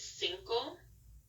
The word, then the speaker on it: cinco: the end oh it's Cinco for five and this is an example of how the C can be pronounced as an S and Decay so we